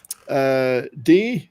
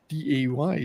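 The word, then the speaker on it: Dey: movie, and we have Day Young, D-A-Y, D Young, D I guess it's pronounced, not Day, D Young, Kate Rambeau, smart but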